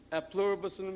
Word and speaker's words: e pluribus unum: the dollar, it says, e pluribus unum. A pluribus unum is the right way to say it in Latin.